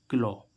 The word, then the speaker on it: claw: जैसे हम देखें CLAW, अब यहाँ पर लास्ट में क्या आ रहा है, AW, तो इसका उच्चारण क्या होगा, क्लो।